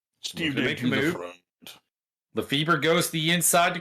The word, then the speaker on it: Lefebvre: Lefebvre? I believe it's pronounced Favre. Is not Favre.